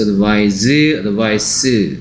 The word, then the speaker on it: advise: 발음이 뭐였죠? Advise라 했어. Advise. C가 S 소리 나고요. 여기 S가 Z 소리 납니다.